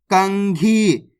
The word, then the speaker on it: कंघी: कंग, घी, तो मिलके बन जाएगा कंघी।